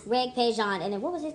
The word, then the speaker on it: Regé-Jean: It's pronounced Regé-Jean P A G E P A G E Page. Regé- First name is sounding like the music genre. Okay all right all right. Regé-Jean and then what was his character's name?